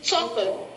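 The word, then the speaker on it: So.cl: It is Soccer, and it is spelled as SOCL. It is a creation of Microsoft Fuse Labs. They have named it as Social, but it is abbreviated as Soccer.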